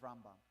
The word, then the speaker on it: Rambam: Am, we're trying to phase out, is the mispronunciation of Rambam.